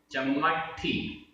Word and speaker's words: चम्मट्ठी: चम्मट्ठी, चम्मट्ठी, आधा मा पूरा मा, आधा ट पूरा ठ, चम्मट्ठी।